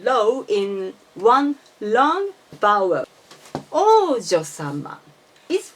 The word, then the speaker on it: 王女様: Please notice that the O is high and U is low of OU in the Oujyosama. And as I said in many times, you don't need to pronounce OU. You should say O in this case.